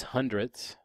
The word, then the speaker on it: hundredths: And remember, if it's a number to the right side of the decimal point, it has the TH sound at the end.